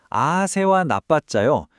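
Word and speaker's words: āsevanapaccayo: 아세와 나빴자요. 발음하실 때 아를 좀 길게 빼 주세요.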